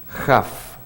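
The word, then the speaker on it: כ: La primera letra con dagesh es una Kaf, y luego sin dagesh, ¿cómo se pronuncia? Jaf, como que fuera J, ¿verdad?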